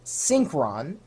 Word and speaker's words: Synkron: a file, a program, a utility called Syncron, and you spell that Synkron.